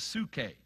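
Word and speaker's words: ψυχή: different words translated life one is sue k it's spelled in the greek p s u c h e c and for instance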